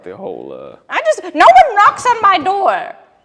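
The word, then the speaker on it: Nowun: other Hub I've decided his name is no one but it's spelled n o Wu n oh no one no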